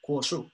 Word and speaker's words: Guoshu: Seguimos, entonces dice Kuoshu, también conocido como Kuoshu, como con K, ¿ya? La G se pronuncia como K en chino, ¿ya?